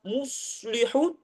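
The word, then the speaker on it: مُصْلِحُونَ: di di awal baqarah la tufsidu fil ardhi qolu innama nahnu muslihun muslihun di sini ada shad maka kita bacanya gimana muslihun tarik sedikit mus mus mus mus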